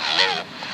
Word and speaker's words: Lobe: It's published by the LOBELOG, that's LOBELOG, Loeb, rhymes with globe, entitled Foreign Policy.